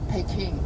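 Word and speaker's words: Peking: So they bring the Chinese uh uh old pronunciation pecking abroad.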